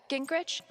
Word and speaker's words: Gingrich: Steph uh Gingrich, is that how you say it?